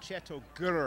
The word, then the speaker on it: Chateau Grrr: tell us all about chatau G is that the right way to say it g g yes chat uh we are